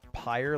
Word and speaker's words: Pyre: right here guaranteed it's pronounced pyre like fire is it I just